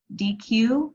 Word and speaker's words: Deque: And also DQ, which is DEQUE.